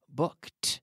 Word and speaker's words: booked: Canada last Christmas I booked that's right with the T sound well done good job we be in st.